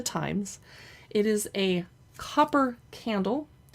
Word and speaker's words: Thames: And I hope I'm saying it right because it's almost spelled like the Thames, which is a river in London that's not said the Thames. Anyway, it's by the Times.